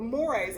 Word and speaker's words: mores: Mores. You pronounced it correctly?